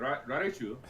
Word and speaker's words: Raiju: Razer Raiju, Rajin. I don't know. Raiju. Yeah, it's some Japanese. Probably. Baby. Raiju. How do you say R? How do you say it? Raiju. R-A-I-J-U in Japanese. Is it Raiju?